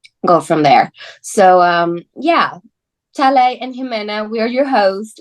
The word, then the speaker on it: Talei: So Oh, Talei, yeah. When you see it written on paper, it's spelled Talei, but I've had that really throws up some interesting pronunciations. So I've had yeah. Talai, Tully, Talei.